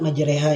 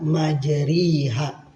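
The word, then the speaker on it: مَجْرٰىهَا: Kalimat majreha ini adalah bacaan imalah yang artinya memiringkan bunyi fathah ro kita bunyikan atau kita condongkan ke kasrah. Jadi tidak to bunyi kasrah tetapi condong aja. Contohnya majreha. Kalau kasrah kan majriha ini condong aja mendekati itu asalnya kalimat majroha dibaca majreha.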